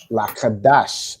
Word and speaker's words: Qadash: Lakadash, exactly. Well done. Right? So that's like the three syllables, right? La, ka, dash.